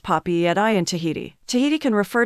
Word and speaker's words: Papeete: An excellent general rule of thumb is to enunciate each letter when sounding out a Tahitian word. For instance, the name Papeete is pronounced Papi at I in Tahiti.